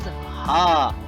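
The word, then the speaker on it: ห้า: In Thai language, because Thailand uses Thai language, the 5 is pronounced as ha.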